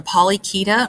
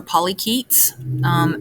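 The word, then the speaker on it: Polychaeta: to talk about are the polykita or polyketes the c-h-a-e is pronounced key these are the ocean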